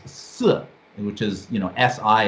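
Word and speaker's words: 四: which is you know si in the fourth tone and so uh is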